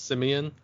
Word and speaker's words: Simeon: on YouTube simeon panda his name is spelled like simon but it's simeon with the e last name panda and